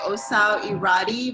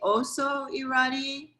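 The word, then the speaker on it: Ossau-Iraty: is, well, it's spelled, if you were to read it the way it's spelled, it's you would say Ossau Iraty, but it's actually Ossau Iraty. It's not Ossau Iraty. That was a spelling mistake. No one's irate. It's Iraty.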